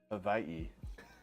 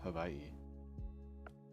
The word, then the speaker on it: Hawaii: some Pokemon oh Pokemon from Hawaii actually it's pronounced Havi according to the the travel Club pronounce Havi um yeah actually okay I I may be